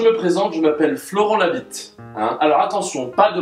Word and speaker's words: Labit: présente je m'appelle Florent Labit hein alors attention pas de blague vaseuse puisque mon nom ne s'écrit pas comme il se prononce hein la B de